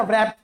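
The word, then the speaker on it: wrap: रैपिंग paper pack करेंगे तो डब्ल्यू नहीं बोलते उसमें रैप बोलते हैं ठीक है डब्ल्यू गायब हो जाता है इसमें चलिए अब [गला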